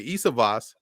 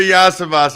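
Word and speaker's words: Iosivas: is someone yes listen I heard like pronounce like four different times when I I'm pretty sure it's Andre yasivas I think the third time's a charm there hey uh you got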